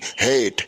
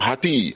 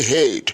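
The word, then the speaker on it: hate: এইচ এ টি ই হেট আর তুমি উচ্চারণ করো হাতি হাতি নয় তুমি ঠিকই বলেছ ওটা হচ্ছে হেট কিন্তু উচ্চারণটা তোমার ভুল হয়েছে ঠিক আছে না ভালো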